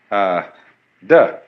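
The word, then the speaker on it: 德: The Japanese pronounce it toku, the Cantonese dak, and the northern Mandarins approximately de.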